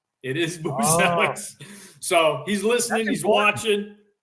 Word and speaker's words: Buzelis: know, AK, that his last name should be pronounced properly as Buchelis from the motherland. Yeah. Modest told me, don't listen to AK, it's Buzelis. It is Boozelix.